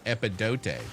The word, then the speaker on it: Epidote: I think this is Epidot. Is that how you pronounce it? Yeah, Epidote.